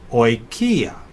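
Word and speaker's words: οἰκία: Omicron iota is a third diphthong, very common, and it's pronounced as the OI in oil, so oikia.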